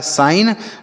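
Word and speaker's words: sign: एक साथ होते हैं जी और एन तो यह जी जो है साइलेंट होता है मतलब इसे नहीं पढ़ते हैं एन से पढ़ेंगे नो लिखा है साइन मतलब होता है संकेत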